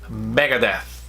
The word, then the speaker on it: Megadeth: of hard for us Megadeth Megadeth he's not deaf but it's death death Megadeth countdown countdown